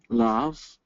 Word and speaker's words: love: Love. Right. You'll see that's a rule breaker, right? It should be loathe. It's not. It's love.